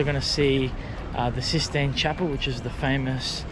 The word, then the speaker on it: Sistine: And it's called Sistine, not 16. Many people think it's 16.